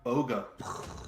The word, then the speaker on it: Boga: That would be Boga. A boga. Seems like I did a Yeah. pretty good job pronouncing that.